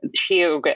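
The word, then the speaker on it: sióga: handle is shoga Yoga so shoga is spelled SI o g a um it's an Irish language word so it's shoga do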